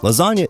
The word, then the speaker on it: lasagna: long night another thing lasagna is not pronounced like it's spelled there's no g in the word now do you know